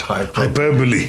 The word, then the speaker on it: hyperbole: and not epitome that's right not hyperbole but hyperbole yes and uh just one more uh p-l-u-m-b-e-r